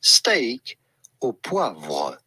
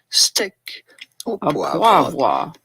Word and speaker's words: steak au poivre: We are looking at how to pronounce with a typical French pronunciation, steak au poivre. Steak au poivre. But it'd be fine in English or American to say steak au poivre.